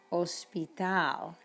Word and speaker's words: hospital: so we say hola or another word you'll see later on is hospital it's hospital not hospital hotel not hotel hotel and